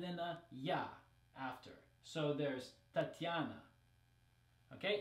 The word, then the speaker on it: Tatiana: like in English it's Tatiana right Tatiana Tatiana so in Russian it's not E right it's just this soft T and then yeah after so there's Tatiana okay it's a little